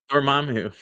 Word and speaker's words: Dormammu: Dormumu, what's up, Seville? Say it again. Say what? How do you say it? Dormamu.